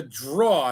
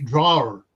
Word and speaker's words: drawer: I knew how to spell it. I just didn't pronounce it right. Well, I mean, there's a lot of English words that are mispronounced. It's a drawer.